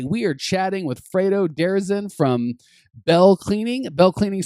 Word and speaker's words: Derazin: I think you did good. It's Derazin. I think it takes a little used to, but you did good. As my wife would say, I put the emphasis on the wrong syllable.